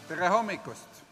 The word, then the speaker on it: Tere hommikust: Tere Hommikust. That's how it should be pronounced.